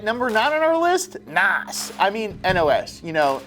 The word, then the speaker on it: NOS: Furious movies later we refer to nitrous oxide systems as NOS pronounced Nas at number eight hooker